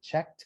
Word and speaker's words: checked: ears checked right checked so here we pronounce it checked with the t okay uh ears this